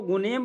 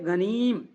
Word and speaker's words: غنیم: غنیم یہ لفظ ہے، کچھ لوگ اس کو غنیم پڑھتا ہے، غنیم، یہ غلط ہے، اس کا صحیح تلفظ ہے غنیم، ٹھیک ہے جی، غنیم،